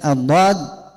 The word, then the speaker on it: ضاد: إذن الضاد أول شيء قبل كل شيء تعرف المخرج الحرف. من أين تخرج الضاد؟ ضاد من حافة اللسان. حافة معناه جوانب اللسان من اليسرى ومن اليمنى.